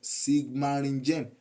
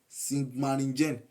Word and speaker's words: Sigmaringen: the throne of spring now let me spell it because that name is something else s i g m a r r i n g e n sigmaringen sigmaringen to the throne of Spain